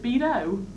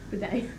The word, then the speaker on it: bidet: How do you pronounce it? Bido? Bidet.